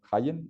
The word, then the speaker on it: Hayen: El invitado de hoy es el padre Jayen, ¿está bien pronunciado? Correcto.